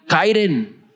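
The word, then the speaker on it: χαίρειν: Gracia, algo que los griegos saludaban y decían kairen. Kairen era gracia. Saludaban así: gracia, gracia a vosotros, gracia a ti. Esa era la pronunciación de los griegos.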